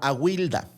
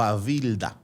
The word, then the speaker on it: Awilda: Y encontré una leyenda nórdica que me gustó mucho sobre una pirata de la Edad Antigua que se llamaba Awilda o Avilda, depende de la pronunciación.